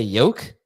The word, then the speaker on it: yolk: Brian Robinson uh is this true you don't pronounce the L in Yol that's correct you just say yoke yeah D Dave not yoke I say yoke